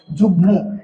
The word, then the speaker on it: যুগ্ম: ছিল না কিন্তু এখানে উচ্চারণ বাগ্মি ম এর উচ্চারণ হয় যুগ্ম এখানে যুগ্ম উচ্চারণ হওয়া উচিত ছিল কিন্তু এখানে কি হয়ে গেছে যুগ্ম ম এর উচ্চারণ সাবা মানে প্রকৃত আছে উর